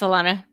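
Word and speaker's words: Alanna: FH out where is it's probably not lean lean because however you pronounce her name because again I read things I don't say them yeah um she has very different oh that's I that's Alana it's Alana oh yeah um honestly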